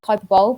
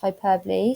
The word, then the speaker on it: hyperbole: So it looks like hyperbole, but it's pronounced hyperbole.